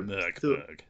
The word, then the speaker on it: Mörkborg: The O with an umlaut is pronounced like the I in thirst. So, Mörkborg. Mörkborg.